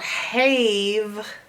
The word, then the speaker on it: have: This is the part you gotta learn by heart, that E is there for no real reason. You can't hear it, and it's not being magical.